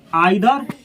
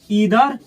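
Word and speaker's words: either: लोग, आइदर और नाइदर, इसको ऐसे पढ़ा जाता है आइदर नाइदर। अच्छा है ईदर नीदर, दोनों प्रोनाउंसिएशन सही है। इसको पढ़ा जाता है आइदर, ईदर, नाइदर, नीदर, दोनों सही है।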